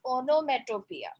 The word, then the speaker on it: onomatopoeia: It's pronounced as onomatopoeia.